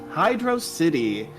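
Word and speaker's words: Hydrocity: It is pronounced Hydro City, with a total of $50.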